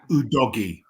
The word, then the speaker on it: Udogie: Yeah, Udogie. That is the correct pronunciation.